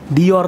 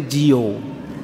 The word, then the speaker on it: Dior: ternyata merek branded yang orang Indonesia ngucapinnya salah semua Jio Dior Bu di or itu bacanya Jio tuh Indonesia salah semuanya